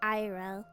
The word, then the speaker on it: Aera: I also get people who do the full pronunciation like Aira, which is the correct one. But if you say it fast, it's just Aira, so.